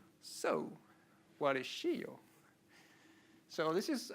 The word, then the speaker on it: Scio: It's pronounced Scio.